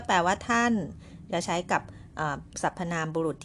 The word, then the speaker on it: 他: ไม่ เหมือน กัน เลย แต่ ว่า การ ออก เสียง ออก เสียง แบบ เดียว กัน เลย ค่ะ ก็ คือ คำ ว่า ทา ค่ะ ออก เสียง ว่า ทา นะ คะ ถ้า เรา ดู